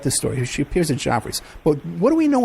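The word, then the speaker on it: Geoffrey's: She appears at Joffrey's.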